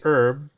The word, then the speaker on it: herb: So the H is silent in the US. It's not silent in the British system.